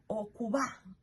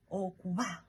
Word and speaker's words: okuba: So, okuba. So it's a single B, but the B is not pronounced strongly. It's a soft B. It's a soft B, like okuba, va, va. Okay? Va, not okuba. You know? It's a soft B. Okuba.